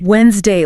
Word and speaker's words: Wednesday: Take Wednesday we d ne s d a y visually that is undeniably Wednesday. Wednesday it looks so obvious but spoken. It is Wednesday. It is completely different from the text. That d is completely gone. The first e is gone.